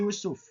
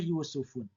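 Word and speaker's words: يوسفُ: contohnya apa contohnya nya Yusuf. Nabi Yusuf ya. Yusuf itu bukan berasal dari bahasa Arab. Makanya kategorinya adalah isim munsarif. Dibacanya yusuf tidak boleh yusufun. Nah, ini adalah contoh-contoh sederhana dari isim girer Munsori.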